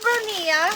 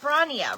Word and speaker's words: Brania: Hello, Bernia. How are you? Is it Brania, right? Am I saying that right? I said it wrong at first.